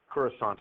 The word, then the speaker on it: Coruscant: It's got a soft C there at the end. Coruscant.